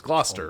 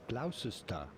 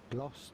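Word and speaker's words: Gloucester: t e r is gler Right England it may look like it should be pronounced glister but it is to be pronounced and usually pronounced in Britain as gler yay I got it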